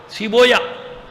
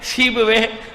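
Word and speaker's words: سیبویہ: صحیح نہیں کر پاتے، بابوے کو بابویا پڑھتے ہیں، کیا پڑھتے ہیں؟ بابویا، سیبویا، قولویا، یہ نہیں ہے، بابوے، قولوے، سیبوے۔ صلوات بھیجیے محمد آل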